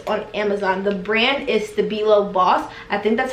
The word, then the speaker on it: Stabilo: The brand is Stabilo Boss. I think that's how you pronounce it.